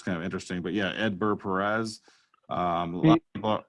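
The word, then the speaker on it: Hedbert: and that is outfielder Edbert Perez. Now, he's got a silent H and a silent T to begin and end his first name, which is kind of interesting. But yeah, Edbert Perez.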